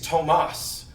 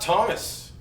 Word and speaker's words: Tomas: And that's another thing, because his name is Tomas, not Thomas.